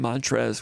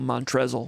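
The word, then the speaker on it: Montrezl: a kick out of the first name mantras with the silent l I was going to call montrezzle what a great player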